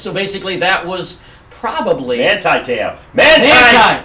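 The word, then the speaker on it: Manti Te'o: Manti-Teo. Manti! What did I say? Monty. What's close? Monte. Well, here's the guy. Manti-Teo. Now we've got it right.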